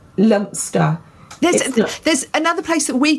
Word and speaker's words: Leominster: But yes, My sister lives near a place that is spelled Leominster. all right. It's said Leominster or Lumster.